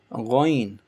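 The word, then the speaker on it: غين: Next you have is ghain, this gray color with this kha. Kha was pronounced from the bottom of your throat. Kha, same thing. Ghain is coming from the same place. Ghain, ghain.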